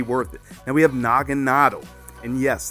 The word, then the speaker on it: Naganadel: Now we have Naganadel. And yes, that's how you say it, Naganadel. Nadel is German for needle, and Naga is like another language for like beast or dragon.